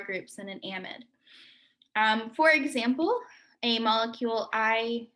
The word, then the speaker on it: amide: or a mid um those are different pronunciations based off of uh british english so in in england